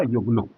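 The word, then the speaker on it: Huguenot: अंग्रेजी में किताबें जो फ्रेंच प्रोनंसिएशन वो फ्रांसीसी था तो फ्रेंच प्रोनंसिएशन हुआ युगन आपको सामान्य पाठ्य पुस्तकों में नट्स करके जिक्र किया जाता है लेकिन वास्तविक या ठीक ठाक उसका उच्चारण हुआ युगन और युगन लोग धीरे-धीरे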